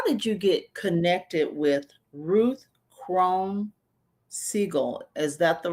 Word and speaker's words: Ruth Krone-Siegel: But how did you get connected with Ruth Krone-Siegel? Is that the right pronunciation Correct.